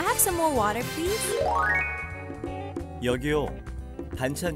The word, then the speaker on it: 여기요: 여기요. 여기요. Now be careful in that pronunciation. It's not 여기. That's different. Different word. It's 여기요.